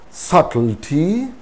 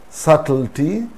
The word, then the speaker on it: subtlety: so dated indebted doubtful subtlety subtlety so in these cases also b is not pronounced that is b is